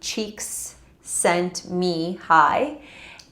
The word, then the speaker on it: Csikszentmihalyi: sent me high and we pronounce his name cheeks sent me hi and he was one